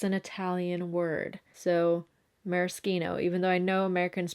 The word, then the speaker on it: maraschino: no before anyone comments i don't pronounce it maraschino because it's an italian word so merskino even though i know americans pronounce it maraschino yeah i think this